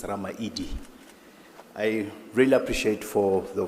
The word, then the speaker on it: Ramaili: So we don't have D as a grammar in my language, so it's L. So when you write it's Ramaili, but when you pronounce it, it's Ramaidi.